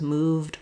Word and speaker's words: moved: So you notice here, I don't say moved or played. I don't have to add a syllable. It's just one syllable words, moved, played, just the d sound.